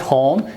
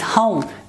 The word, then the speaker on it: home: For example, in the word this one, we normally, the non-natives, we pronounce this word as home. We pronounce this short vowel sound, but actual sound is this one, home. This is not home, this is home.